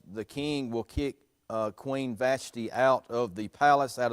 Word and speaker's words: Vashti: time is a hazaris the queen is uh vashti bashtai i've heard some pronounce it you've got the chief adviser to